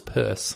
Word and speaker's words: Peirce: greatest philosopher I've never heard of, Charles Sanders Peirce, if I say his name correctly. Which you pronounce correctly.